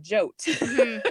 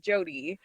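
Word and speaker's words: Jote: but it looks like Jot. Yeah, a lot of my readers like who's Jot? I'm like it's actually pronounced Jodie. And normally you would see it as J O D Y, but because it was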